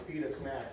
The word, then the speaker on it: Feedussnacks: Well, it's why we jokingly say, like, it's Feedussnacks, say it fast, say it right, otherwise it's offensive. What do you mean? Feedussnacks, like little baby burritos, or Feedussnacks? Yeah. Yep. You should say like feed us all the snacks.